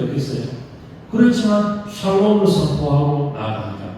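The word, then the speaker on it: שלום: 그러면 발음을 잘 해야 돼요. 살롬 이렇게 하지 말고 그것도 참 좋은 표현이 하겠지만 우리가 샬롬 우리 죽을 놈이 아니에요. 우리 샬롬 평안이에요. 우리 옆에 분들에게 샬롬 인사하죠.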